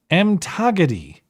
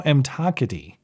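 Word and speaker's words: umthakathi: It's pronounced Mtagadi, which is a Zulu warlock. Lowbrow Mtakati.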